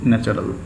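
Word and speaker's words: natural: Artificial, নকল, নকলের বিপরীত আসল, আসল ইংরেজি ন্যাচারাল, উচ্চারণটা ন্যাচুরাল করতে হয়, ইউটা উচ্চারণ না করাই ভালো, ন্যাচুরাল, ন্যাচারাল না ন্যাচুরাল।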